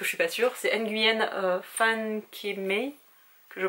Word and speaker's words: Nguyen: les montagnes de euh alors je crois qu'on prononce pas le n en vietnamien mais du coup je vais le dire parce que je suis pas sûr c'est Nguyen fanem que je prononce